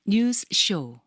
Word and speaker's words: 뉴스쇼: 그래서 박성태 앵커가 그렇게 생각하고 뉴스와 쇼 사이를 0.0001 초만 쉬어도 훨씬 발음하기가 쉬우실 거예요. 한번 해 보시겠어요? 아니 모범을 한번 네. 보여주시면. 박성태 뉴스 쇼.